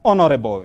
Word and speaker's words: honorable: one is pronounced as honorable you remove that h honorable hour honorable i'm